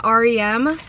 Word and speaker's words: r.e.m.: Her makeup brand, R.E.M. or REM. I guess you can pronounce it either way.